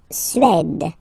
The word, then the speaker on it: Suède: La Suède. La Suède. Suède. Remember, accent grave, it's really open. Suède.